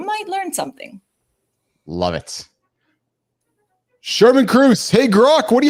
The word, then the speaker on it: Shermin: It's supposed to be an accent that's lacking in the English language. It should be Shermin, more like a flower, less like a guy.